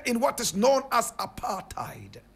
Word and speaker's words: apartheid: people deeply rooted in what is known as apartheid correct pronunciation aparted my brother my sister now at the time